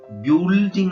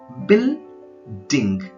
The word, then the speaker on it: building: ಅಥವಾ ಇನ್ನೊಂದು ಉದಾಹರಣೆ ನೋಡಿ, ಬಿಲ್ಡಿಂಗ್, BUI, ಬ್ಯೂಲ್ಡಿಂಗ್ ಅಂತ ಓದ್ಬೋದು ಅದನ್ನ, ಆದ್ರೆ ಅದು ತಪ್ಪದು. ಬಿಲ್ಡಿಂಗ್, ಬಿಲ್ಡಿಂಗ್.